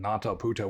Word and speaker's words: Nātaputta: was no exception and so he was called nataa which is spelled n long a t a p TTA